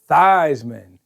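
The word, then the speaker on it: Theismann: Whose name was Joe Thesman. Yeah. who decided to start pronouncing his name Joe Thyman because he wanted to win the Heisman Award.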